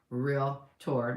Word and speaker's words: Realtor: I'm a director on Tri-County's Board of Realtors, Realtor. Make sure you say it right too. It's Realtor. If you want to be one, you have to know how to say it, okay?